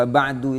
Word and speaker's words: wa ba'du: Wa ba'du itu asalnya amma ba'du. Cuman ammanya diganti menjadi wau. Jadi dibacanya wa ba'du.